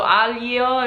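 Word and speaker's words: aglio: in it would be anjio which means garlic and so i would break it up phonetically as al ye o so aliyo if you say it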